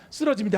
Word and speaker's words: 쓰러집니다: 우리 저 발음 잘하셔야 됩니다. 썰어 아니고 쓰러입니다. 쓰러집니다.